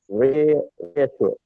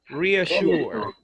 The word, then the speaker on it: reassure: Reassure. Sure. Reassure. It's like the pedicure. Like pediasure? It's like Reassure.